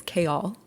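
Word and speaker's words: Chaol: I had heard the name, and it's Kale.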